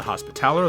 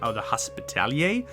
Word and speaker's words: Hospitaller: This is exemplified by the Hospitaller, the Hospitalier, if you want to pronounce it either way.